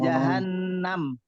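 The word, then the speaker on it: جهنم: Nah itu pak pak kalau bapak bacanya jahanam itu berbeda dengan jahanam ingat enggak ada Alif di situ betul ya ya Naru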